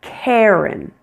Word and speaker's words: Karen: Which R-controlled vowel sound are you hearing in the name Karen? Air, air, air. You're hearing the one that sounds like hair, hair. It's a long A plus air, air.